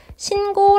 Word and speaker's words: 신고: 자 하나씩 정리해 볼게요 신고 라고 써있지만 우리 실제 발음 신고 라고 합니다 된소리 되게 일어난 것 맞구요 앞에 있는 요니 앤